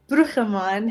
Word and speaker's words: Bruggeman: So I'm Bruchemann, how it's said in Dutch, Okay.